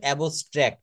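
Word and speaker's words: abstract: এটা উচ্চারণ হবে এবস্ট্র্যাক্ট।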